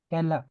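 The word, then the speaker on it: Keller: डेया कैलर कहला, कहला कहते हैं, ठीक है, ई आर को आ पढ़ा करें, ठीक है, फेंस्टा, फेंस्टर नहीं, फेंस्टा, ठीक है, कहला, ताकि आपकी प्रोनाउंसिएशन भी ठीक हो।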